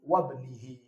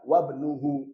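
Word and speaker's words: وابنِهِ: atf pun ikut jer wabnihi bacanya maruulin wabnihi bukan wabnuhu kalau wabnuhu salah karena yang setelah huruf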